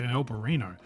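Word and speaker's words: Albariño: We tasted their standard stuff, and then also that, let's check the pronunciation. Albarino. You betcha, Albarino.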